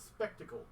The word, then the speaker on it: spectacled: the Flying Fox yeah it's spectacle spectacles like wearing glasses okay my dyslexic brain